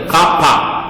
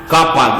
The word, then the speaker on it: kappa: vector, where the symbol K, Greek alphabet is pronounced kappa. Kappa.